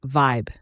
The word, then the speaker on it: VYB: Let's talk word terms The VB is pronounced vibe VB means visualize your